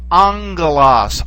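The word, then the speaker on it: ἄγγελος: word for Angel and it's pronounced angas angas notice when you have the two gamas put together it doesn't sound like a g it sounds like a okay like the sound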